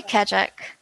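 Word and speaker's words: Keccak: Skandesh is asking, so each transaction creates a unique how do you pronounce Kachak. I say Kachak.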